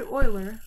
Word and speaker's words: Euler: Leonard Euler. I know, it seems like that's not how you pronounce that name, right?